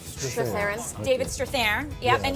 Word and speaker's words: Strathairn: Strathairn. Strathairn.